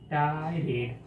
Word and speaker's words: tirade: Pronunciation इसका क्या होगा? टायरेट, TIRADE। क्या? टायरेड। क्या? टायरेड।